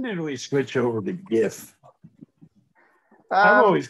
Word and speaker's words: GIF: the 90 10 rule is everybody okay if i continue to call it gif all right i'm just going to do that unless somebody screams stop it andy pronounce it jiff how to connect two